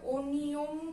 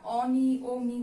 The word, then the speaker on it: অনিয়ম: দেখো এখানে লেখা আছে অনিয়ম, এটার উচ্চারণ কিন্তু আমরা অনিয়ম করি না, আমরা কি অনিয়ম করি, একদমই না। এটার উচ্চারণ কিন্তু আমরা অনিয়মই করি, অনিয়ম, এটা হচ্ছে ঠিক।